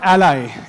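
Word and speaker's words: a11y: And lastly uh the term ally A1 11 Y. It's pronounced ally because it's a truncation of the word accessibility which is A and Y and 11 letters in between.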